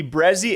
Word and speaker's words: Brehze: It'll be Brehze, as I pronounce it, Brehze, as you guys probably say.